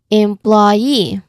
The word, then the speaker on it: employee: So in employee the stress doesn't come early. Instead, the word rises toward the end. Employee.